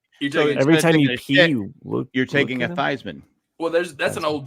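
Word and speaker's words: Theismann: who was in college he changed it to thyman to rhyme with Heisman why would he hang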